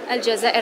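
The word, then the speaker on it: الجزائر: अलजज़ाइर अलआसिमा।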